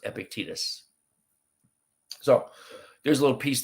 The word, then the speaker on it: Epictetus: And just so you know, Epictetus is spelled Epictetus, and it's pronounced Epictetus.